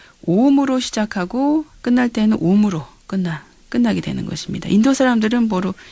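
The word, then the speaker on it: ॐ: 그래서 이야기를 할 때 오음으로 시작하고 끝날 때는 옴으로 끝나게 되는 것입니다. 인도 사람들은 시작할 때 옴, 항상 옴. 옴은 사실 아, 우, 음이 합쳐진 단어거든요. 그래서 아, 우, 이런 식으로 길게 발음을 합니다.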